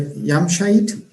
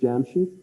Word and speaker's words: Jamshid: Yamshait, I think. Jamshid Iqbal. I think the correct pronunciation of his name is Jamshid, and his surname is Iqbal.